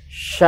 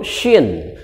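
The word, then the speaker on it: شين: tiga bertitik 3 di atas ini namanya huruf Sya hai hai huruf Sya ataupun bisa disebut huruf syin kalau tadi Sin biasa kalau ini dibaca Sin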